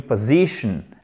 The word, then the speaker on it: position: If I were in your position. Accent tonique ici.